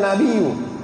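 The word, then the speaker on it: نَبِيُّ: Fa utiya biyan nabiyyu. Jadi bacanya itu nabiyyu. Nabiyyu naibul fa'il.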